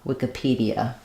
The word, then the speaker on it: Wikipedia: on the p d so it sounds like wik uh p uh Wikipedia um sometimes if we're talking if we're talking just about a Wiki a Wiki then we change just to an E here so it sounds